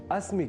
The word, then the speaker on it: अस्मि: आपने ध्यान दिया होगा कि अहम अस्मि, यहाँ अस्मि बोलने के क्रम में मैंने अस्मि के ई इस ह्रस्व अक्षर का विशेष रूप से अर्थात लघुता के साथ उच्चारण किया है, क्योंकि संस्कृत में अक्षरों